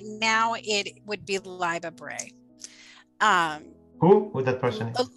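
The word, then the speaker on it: Libba Bray: have to say right now it would be live a bray um who would that person live a bray her name is spelled l-i-b-b-a okay first name uh last name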